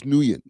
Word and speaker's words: Nguyen: I know Flacco like completely botched up the pronunciation of his name, but it's George Nguyen.